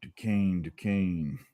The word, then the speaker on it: Duquesne: Duquesne. Rhymes with cocaine. There we go. Not spelled like it, though.